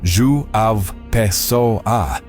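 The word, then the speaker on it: João Pessoa: Today, we're traveling to Joan Pesoa, pronounced Zu A Peso A in northeastern Brazil to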